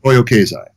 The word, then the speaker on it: Toyo Keizai: Am I pronouncing that correctly? Toyo Keizai.